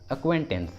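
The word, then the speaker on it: acquaintance: अक्वेंटेंस, अक्वेंटेंस, इसमें सी क्यू के पहले आया है, क्यू के पहले सी आया है इसलिए सी साइलेंट होगा, इसलिए सही उच्चारण होगा अक्वेंटेंस, अक्वेंटेंस।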